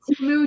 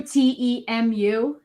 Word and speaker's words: Temu: It's Temu, Temu.